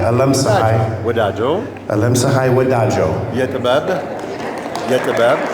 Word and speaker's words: አለምፀሃይ ወዳጆ: You can say Alam. Alam. Sahai. Sahai. Alam Sahai. Wadajo. Alam Sahai Wadajo. Yetibab. Yetibab. Yetibab. Madrak. Oh my God. Little by little. Great. Whereas Alam Sahai Wadajo, Art Floor celebrates its